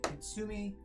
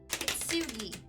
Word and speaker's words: Kintsugi: based on Kintsugi. Kintsugi. Kintsugi. I always want to drop the N.